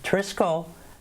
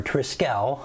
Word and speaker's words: Trisquel: in spain virtually and trisco again or triskell i guess is probably the exact pronunciation so i'll try to